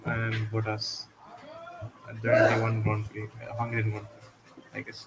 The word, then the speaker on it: Grand Prix: say It's Grand Prix.